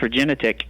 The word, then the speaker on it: Regenetiq: I hope you are I like the name regenetic am I saying it right that is correct regenetic retic okay yep and that is that is